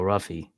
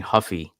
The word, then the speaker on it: Ruffy: to talk about Mauricio ruffy I was saying Huffy last week because I just assumed you know Brazilian and you don't pronounce the r but I guess it's ruffy um it was a